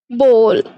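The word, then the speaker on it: bowl: बोलते हैं बॉल बॉल बॉल काफी लोग जो है इसको बाउल पढ़ते हैं बट बाउल जो है रॉन्ग प्रोनाउंसिएशन है इसके करेक्ट प्रोनाउंसिएशन है बॉल देन देन आता है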